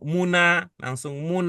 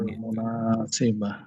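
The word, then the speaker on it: المناسبة: Dengan demikian, tidak tepat kalau bacanya langsung muna, Ya. ada alif Hmm. lamnya. Alif lam. Al-muna gitu. Al-munasibah. Ketika kita menyadari bahwa itu ada alnya, maka baknya nggak boleh ban.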